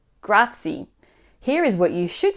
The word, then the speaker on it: grazie: is how to pronounce grazie without overlooking any syllable or sound grazie grazia now also be sure to roll your r if you can grazie for tips on how